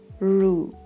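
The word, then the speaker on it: roux: The 2 of the very rare examples would be faux and rue. X at the end in these 2 words is silent.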